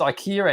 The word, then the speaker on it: IKEA: But it's a difference of how do you pronounce. You got any, It's Kato? It's IKEA and IKEA, right?